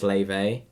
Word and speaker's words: Laufey: Her name's Laufey, but it's spelled Laufey.